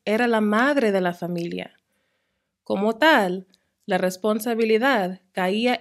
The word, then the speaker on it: familia: So the words that don't contain the accent mark form what we call a diphthong between the I and the A, and we pronounce them together as one syllable, one sound that basically ends up sounding like ya, justicia, familia.